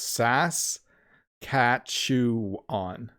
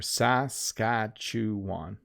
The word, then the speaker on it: Saskatchewan: you think about it it's sas cat shoe on if you say it slowly so individually it's a little easier saskatchewan there you go a